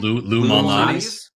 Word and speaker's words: Lou Malnati's: pronunciation. Lou Malnati's.